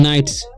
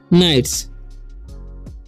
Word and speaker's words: nights: ठीक है, तो यहाँ पर GH तो साइलेंट होता ही है।